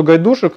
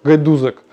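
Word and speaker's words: Gajdusek: Именно я долгое время думал, что гайдушек, но фамилия произносится как гайдузек.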